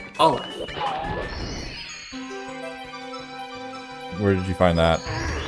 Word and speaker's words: Aleph: It's Aleph. Aw being the emphasis syllable. Aleph.